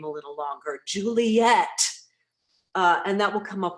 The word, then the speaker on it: Juliet: For example, in the play Romeo and Juliet, Juliet's name is given in the meter of full 3 syllables, I think 5 or 6 times in the play. Most of the time it's given 2 syllables, Juliet, which is actually true to how people speak.